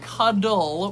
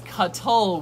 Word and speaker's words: cuttle: to be very poor it's not cuddle with DS it's cut toll with T's so if you check